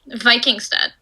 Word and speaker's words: Vikingstad: we go again how do you pronounce your last name um vikingstead vikings then yeah yeah yeah yeah yeah i'm